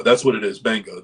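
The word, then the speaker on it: Gbenga: Banga. That's what it is. Banga. The G is silent.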